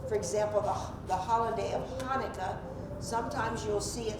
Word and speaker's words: Hanukkah: c h a n it doesn't matter because pronunciation is the same unless you give it that guttural sound Now Hebrew will give